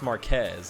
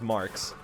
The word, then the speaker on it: Marquez: to wait for that he pronounced my name as Marquez and that's not actually how it's spelled oh that's not how it's pronounced it's just pronounced Marx um but I thought it was kind of funny and most people tend to get it right but I can totally understand how somebody would go like Marquez or Mar or like